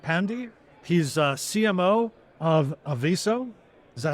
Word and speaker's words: Aviso: today is Amit Pandy he's a CMO of aiso is that how we pronounce it that's correct and it's a really